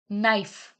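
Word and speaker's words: knife: silent right मतलब लिखना नाइफ नाइफ में आप बताइए मुझे कौन सा वर्ड साइलेंट है इट्स के हाई हाई हाई में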